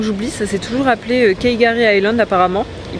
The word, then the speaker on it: K'gari: bon avant que j'oublie ça s'est toujours appelé kgary Island apparemment il prononce pas le cas donc ils appelleent ça Gary Island en gros et ça veut dire paradis